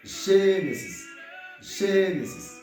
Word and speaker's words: Gênesis: Genesis. Muito bem. Ok. Cunha là, au fin prononcer, au fin apprendre ensemble avec nous comment on dit Genèse en portugais, qui c'est Genesis.